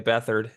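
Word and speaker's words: Beathard: like to call him CJ bethard is probably how you should say his name um led the Jaguars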